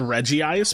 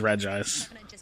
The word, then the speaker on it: Regice: making myself sound conservative I always thought it was called Reggie ice but I realized that that's like an added syllable for no reason so it is Regice who knew oh Wagner